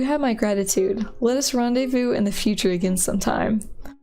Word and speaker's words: rendezvous: the future again sometime I feel sorry for someone who doesn't understand what rendezvous is like how to say it Ren des Vosges what what is rindas vows picked on Phonics does not work right there the simple